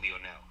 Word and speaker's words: Leonel: is the middle name like lionel richie but in spanish i'm i'm mexican so mexicans we pronounce it leonel oh sure sure so